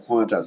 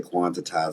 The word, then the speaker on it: quantize: That's why like I like quantize. People say quantitize and I just wait.